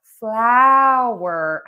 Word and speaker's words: flower: So, flower has the ow sound. And floor has the or sound.